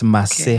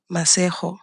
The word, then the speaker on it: Masego: And you got to say this right, okay? It's Masego. Okay. Masego. Mm-hmm. And that is spelled Masego.